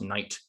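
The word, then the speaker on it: knight: which it does um so you have this word that looks like it should be pronounced knicked or something like that it's pronounced night uh it used to be pronounced sneaked back in old english but then there was a whole bunch of sound changes so now it's pronounced night and we've never bothered to change the spelling and then there's tibetan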